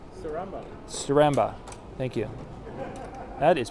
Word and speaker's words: Staramba: How is that pronounced? Saramba.